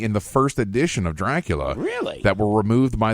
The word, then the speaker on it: Dracul: Dracul. You have to hold the R.